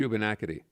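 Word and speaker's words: Shubenacadie: Shubanakity.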